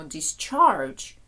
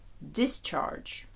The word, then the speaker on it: discharge: discharge виписувати discharge виписка Зверніть увагу на наголос є різниця коли дієслово Ми кажемо discharge коли іменник discharge operate оперувати проводити операцію